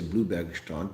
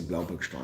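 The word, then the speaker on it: Bloubergstrand: Dylan was at my earlier meet and greet that we had, and I guess you guys would say Bluebergstrand, but I'd say Blaubergstrand. Of course, that's a German pronunciation.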